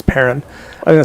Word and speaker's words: Perron: We had a chance to talk with Andrea Perron, who is, and I asked her, and that's how you pronounce it. It's Perron.